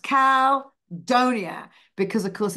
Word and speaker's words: Caldonia: way of seeing it should be but it's pronounced Cal Donia because of course it's New Orleans it I